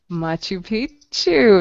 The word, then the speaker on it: Machu Picchu: Machu Picchu. Very good. Great pronunciation.